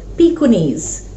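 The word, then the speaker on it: Pekingese: Now that is the name of that's a breed of a dog which is pronounced as pikunis.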